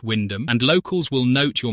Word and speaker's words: Wymondham: Wymondham, pronounced Windham, and locals will note